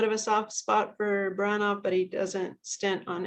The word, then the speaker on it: Baranov: Are there useful documents anywhere, like in Russian archives, to provide a more realistic portrayal of Baranov, or have they been whitewashed too? Or Buranop, I mispronounced it.